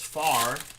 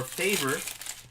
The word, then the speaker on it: Favre: thing, and it's like, I know people that pronounce it as Far with no V. and people that pronounce it Favre with the R before the V, and then people that argue that it should be Favre or Favor, and you know, who knows, dude? It's whatever the guy wants